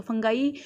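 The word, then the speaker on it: fungi: तो बहुत सारी जगह इसको फंगी बोलते हैं, तो ये फंगी नहीं होता है, फंगाई होता है या फंजाई होता है, ठीक है। इसको 2 तरीके से बोला जाता है, फंगाई और फंजाई। तो फंगाई इसका सही प्रोनाउंसिएशन है, ठीक है।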